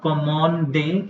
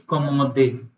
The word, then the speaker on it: commande: So not commande, it's commode or commode. commode. N is silent.